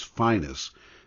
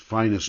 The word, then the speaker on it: Phineas: When you read his name, it's Phineas Newborn Jr. However, musicians who know him, everyone in the jazz world always refers to him as Finus. That's how they pronounced it, Finus Newborn.